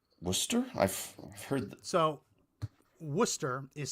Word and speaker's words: Worcester: But it's pronounced Worcester. Or if you're in Massachusetts, Worcester. Basically, if you're from Massachusetts, you just take the word and you just take out all the consonants.